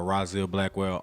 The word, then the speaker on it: Rahzil Blackwell: Yeah, all my handles are Rahzilblackwell, Rahzil Blackwell. You know, 4 syllables, amazing name.